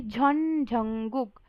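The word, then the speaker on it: Jeon Jungkook: मतलब जियोन जंगकुक नहीं, बल्कि झॉन झंगुक।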